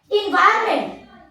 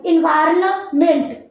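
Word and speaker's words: environment: जैसे गवर्नमेंट, जी पता है spelling, GOVER NMENT, एन इन्वायरमेंट, EVEN, अरे क्या होता है, ENVIRNMENT, एन आया। Yes. हमने एन की प्रोनाउंसिएशन की क्या, नहीं। वैसे अगर मैं करूं कैसे करूं, इन्वायरमेंट, कैसा लगेगा, नहीं किया। एन की प्रोनाउंसिएशन हमने पूरी तरीके से खत्म कर दी, राइट।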